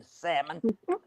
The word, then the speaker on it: salmon: By the way, the L is silent in salmon.